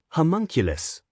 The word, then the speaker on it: homunculus: Homunculus. Wiz told Boomstick the correct pronunciation.